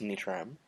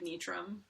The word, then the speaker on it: Nitram: So yeah, so this is Tavros Nitram. Nitram? Technically the rule is pronounce it however you it's following totally straightforward, like, English pronunciation, but, like, I say it like Nitram.